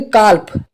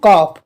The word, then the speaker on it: calf: ठीक है, तो यहाँ पर अगर आप न्यू स्टूडेंट हो तो आप इस तरीके से पढ़ोगे, काल्फ काल्फ, इस तरीके से पढ़ोगे। लेकिन यहाँ पे एल साइलेंट है, इसके लिए पढ़ेंगे हम कॉप।